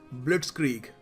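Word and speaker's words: Blitzkrieg: इसको प्रोनाउंस करते हैं ब्लिट्जक्रीग। जर्मन शब्द है, तो आपको बताना है इसका अर्थ क्या है।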